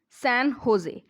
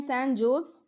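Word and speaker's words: San José: Costa Rica की capital है, Costa Rica की कैपिटल है सैन होजे। इसको वैसे लिखते हैं सैन जोस, लेकिन इसको प्रोनाउंस करते हैं होजे, क्योंकि स्पेनिश जो लैंग्वेज होती है उसमें जे साइलेंट होता है।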